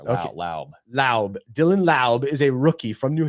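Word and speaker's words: Dylan Laube: is right lby lby Dylan La it's a silent E there la la Dylan La is a rookie from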